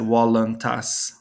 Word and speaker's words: voluntas: ecclesiastical pronunciation fiat voluntas notice here i said wallentas here i said voluntas i made this u